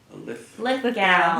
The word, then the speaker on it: Lithgow: And presiding at that event was the actor, I'm pronouncing his name incorrectly, John Lithgow? Lithgow. Lithgow.